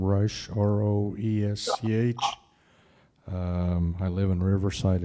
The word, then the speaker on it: Resch: Anyway, how do you pronounce it? Rush. Okay, Rush.